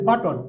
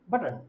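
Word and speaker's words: button: তদ্রূপ যেমন আমরা বলি বাটন, আসলে বাটন না, হবে বাটন। বাটন, এখানে ওর উচ্চারণটা হবে না, সাইলেন্ট হয়ে যাবে।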